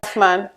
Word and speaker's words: Othman: Osman, I hope it's Osman, isn't it? Yeah. Othman. Othman. It's the way it's spelled.